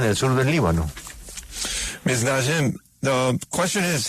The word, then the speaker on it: Najem: Ella se llama Najem. No sé si estoy pronunciando bien el Najem. N-A-J-M. Najem. I'm pronouncing okay your last name? Najem?